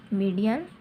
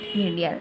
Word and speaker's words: median: मीडियन line, इसको अच्छे से प्रोनाउंस करना. मीडियन line, not मीडियल.